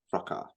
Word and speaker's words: fracas: But I think the correct way to say it is fracas.